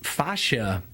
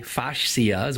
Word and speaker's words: fascia: episode the feature is Sasha it's a connective tissue that's in the body it's the main focus of the day my system it's spelled FAS CIA facias what it looks like and it's basically what